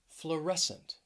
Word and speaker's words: fluorescent: hear the word crescent next is fluorescent fluorescent stress is on that second syllable fluorescent if you work